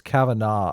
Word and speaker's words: Kavanaugh: we're gonna talk about Cavanaugh Cavanaugh Cavanaugh vinod I pronounced it the wrong way on my video this morning and people were give me a hard time it's Cavanaugh I guess but how did